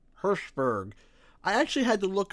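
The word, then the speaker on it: Hirshberg: publisher of Activision Eric herberg I'm sorry I'm sorry but can I just say that his name sounds like you're saying Hashburg but with your lips put together herberg I actually had to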